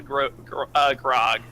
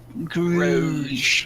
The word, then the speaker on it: Grog: I say hello to Grog. It's pronounced Grouge.